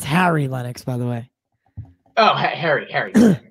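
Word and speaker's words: Harry Lennix: You know, and it's Harry Lennox, by the way.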